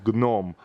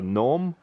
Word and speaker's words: Gnome: This is Gnome. So like a gnome in English, but in Russian we pronounce it Gnome.